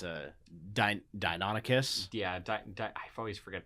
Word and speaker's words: Deinonychus: Wait, I know it says Velociraptor here, but it's a Deinonychus. Yeah, I always forget how to pronounce this thing.